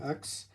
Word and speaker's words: Ionx: TCL Ionx.